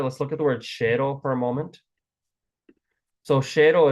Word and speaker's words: શહેરો: Again, this is spelled shahero, but it's pronounced shero.